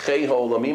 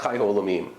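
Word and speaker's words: חֵי הָעוֹלָמִים: We say Baruch Chei Ha'olamim and not Chai Ha'olamim.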